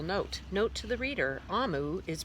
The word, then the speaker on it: Omu: made a little note note to the reader ah mu is pronounced ah mu and is the Igbo term for chrome which